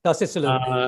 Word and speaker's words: Tocilizumab: I'm not able to pronounce it well. Apologies for that. But the immunosuppressant. Tocilizumab. Yeah, Toxi. Yes, you're right. Tocilizumab.